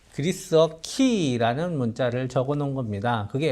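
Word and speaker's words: Χ: 랑 똑같이 생겼어요 그래서 저 어 키 이라는 말은 그리스도 쓰라는 크리스 토스 라는 어 그리스도의 그리스 원 모네 이제 첫 끌자 있죠 그래서 저 글자는 x 반응은 아닌 게 아니고 크 발음이 납니다 그래서 그리스도의 크리스마스 크리스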